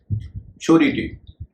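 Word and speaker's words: surety: श्योरिटी, यहाँ पर भी एस का उच्चारण श होगा, क्योंकि यह SURE, श्योर से बना है।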